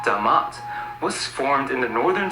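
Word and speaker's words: Dʿmt: joe rogan i know it looks like dmt but it's pronounced damat was formed in the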